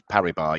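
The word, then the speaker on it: Paribas: thanks jamie nice work actually it's bmp parabar parry bar you're not harry bass we had uh their ceo contacted me yesterday she said could you make sure your uh analyst pronounces it probably it's a bad job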